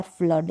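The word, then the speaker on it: flood: ब्लड और फ्लड, यहाँ पर डबल ओ को अ प्रोनाउंस कर रहे हैं।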